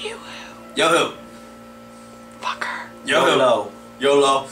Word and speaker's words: Yoo-hoo: It's pronounced Yoo-hoo.